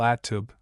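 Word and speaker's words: الطوب: Arabic tub pronounced with the article at tub.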